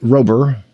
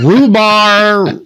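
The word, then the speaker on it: Robur: R O B U R is the Latin word for strength built over time. Nice. Okay. And it's also a word that Texans can't pronounce. It's a rhubarb. Robard.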